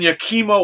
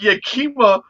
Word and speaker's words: Yakima: That a lady on Newsmax this morning, she mispronounced. She goes, something was going on in Yakima, Washington. And I'm like, Yakima?